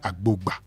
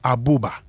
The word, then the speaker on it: Agbogba: Ask him to pronounce a word like Agbogba. Agbogba. He will tell you Aboba. Aboba, because where are you going to hear a sound B in Akan?